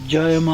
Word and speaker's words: Jaima: Et Jaima, hein, c'est une version, la prononciation bengali d'un mantra qui veut dire en sanskrit Om Jaima.